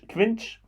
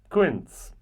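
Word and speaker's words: quince: um so okay now I need to know how to pronounce this correctly Quin Quin okay I was close Quin so um Quin is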